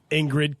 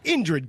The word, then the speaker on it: Indrid: hey guys what's happening we're gonna talk about Ingrid cold grinning why do I keep saying I can't even spell it right Indra not Ingrid let's just take two we are gonna talk about Indrid cold also known as the grinning man mmm